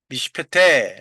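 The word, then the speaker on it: מִשְׁפְּטֵי: 하나의 단어에 연속해서 쉐화가 붙어 갖고 나올 때 첫 번째 나오는 쇼와는 발음하지 않는다. 두 번째는 두 번째 나오는 쇼와는 발음한다. 그죠? 그래서 미 패 티입니다. 페테이 미슈 페 태이 미슈페테 뭐 두 가지로 발할 수가 있어요.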